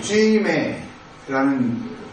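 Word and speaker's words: ζύμη: 헬라어 원문에는 그 쭈메이라고 쥐메라는 그 발음인데요.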